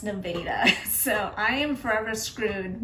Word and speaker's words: Nevada: Um and there is a town that's um spelled the exact same way as this and it's pronounced Nevada.